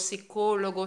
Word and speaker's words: psicólogo: psíquicos mira en español las palabras que empiezan por esta fe muda ahí a como neumáticos psíquicos psicólogo psiquiatra no se pronuncia para los hispanohablantes es